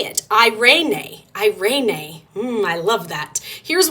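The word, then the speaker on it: εἰρήνη: you're going to learn how to say it irenae irenae I love that here's what it looks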